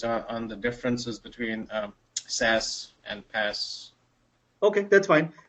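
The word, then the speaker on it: SaaS: are happening these days right so I have s a s which is normally pronounced as SAS pass and and us so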